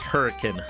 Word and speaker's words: Hurricane: We have a city in Utah that is spelled hurricane, but it's pronounced hurricane. Yeah, Utah's stupid. I can accept that one as like as a quirk of like regional pronunciation.